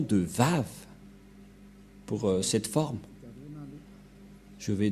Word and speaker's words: Vav: Nous allons voir cette parole de confirmation que pour les Juifs, le W se lit V.